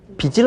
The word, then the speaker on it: 빚을: 그 다음에 빚을 얻다. 자, 이렇게 발음을 해야지 맞습니다. 왜? 받침이 지읒이니까요.